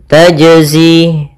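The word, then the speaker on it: تَجْزِي: Contoh yaum la tajzi. Ini enggak mantul. maka dia salah. Yang kedua yaitu menambahkan hamzah. Misalkan tajzi la tajzi ini menambahkan hamzah atau dia putus misal tajah ini putus harusnya mengalir saja dia ketika membaca qalqalah dia mengalir. Yaitu gimana? Tajzi. Tajzi.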